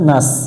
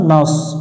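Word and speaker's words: ناس: নুন সদ জবর নাস, এখানে অনেকজনে এটা সিনের মতো উচ্চারণ করে নাস। নাস পড়বো না, নাস একটু মোটা হবে, শেষ দিতে হবে।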